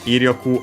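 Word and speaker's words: 威力: So yeah, Iryoku, accent on the first more, so it's one of those with the second most common accent for those.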